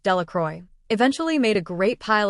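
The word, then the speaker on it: Delacroix: Jones and Dicky Delroy the villagers pronounced this named delacroy eventually made a great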